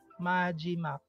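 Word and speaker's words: 마지막: So ang first syllable natin is ma, second syllable is G, third syllable is mak. Majimak.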